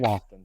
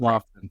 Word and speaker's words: Loftin: So I think we're mispronouncing his name. Can you guys tell me what his name is? It's Nick Loftin. Sorry about Nick that. Loftin. That's Loftin.